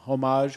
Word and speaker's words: homage: one of those, the homage ones, in a crate. Like they found an uncrated one. And The, No, that's not even surprising. that's the H is silent. homage. Like the P in Swimming. that's not even surprising, Sleepy,